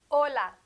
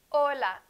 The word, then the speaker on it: hola: in spanish is silent hola hola notice it is not the breathed h in english often i have